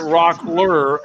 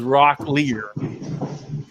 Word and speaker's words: Rockler: He goes, many people pronounce it Rockler as Rocklear.